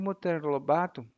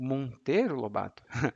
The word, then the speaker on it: Monteiro Lobato: faleceu e aí o Monter Lobato Aliás o Monteiro Lobato a minha pronúncia tá um pouco sem o som nasal o Monteiro Lobato herdou